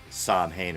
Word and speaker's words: Samhain: Celtic Irish holiday of solid spelled Samhain actually pronounced Alwyn and to this day I'm still trying to figure out if Glenn Danzig pronounces the band name Samhain or Sol way he knows the right pronunciation